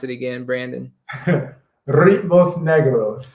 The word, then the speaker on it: Ritmos Negros: Ritmos Negros. How you spell it? You got to spell that. You got to roll the R's.